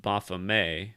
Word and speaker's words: Baphomet: Somebody wrote me an email and said it's actually pronounced Baphomet, so I guess it's got a French sound. I still like Baphomet better.